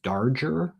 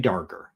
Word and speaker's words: Darger: Henry Darger. We're going to say it's a hard G. Could be Darger. Henry Darger.